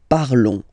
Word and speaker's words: parlons: Remember, final S is not pronounced, okay? And then this O-N together, they will give you the sound on, on, okay? Nous parlons.